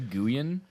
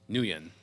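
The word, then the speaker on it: Nguyen: uh Justin or Dustin nuan nuan is the proper pronunciation I had to look that one up um for his name I was going to say Guan but I'm like that's not right that was my first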